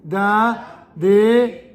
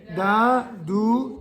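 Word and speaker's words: דד: du mot très bien il se prononce pas il se prononce jamais donc c'est dad dad 3è ligne dad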